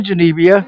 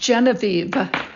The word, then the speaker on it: Genevieve: How are you, Genevia? My My name is pronounced Genevieve.